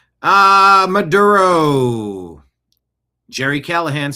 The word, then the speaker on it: Maduro: Maduro. He swallowed marbles to say his name. Again, it's Maduro.